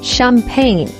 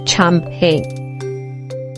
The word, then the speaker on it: champagne: This word is pronounced as champagne and not champagne.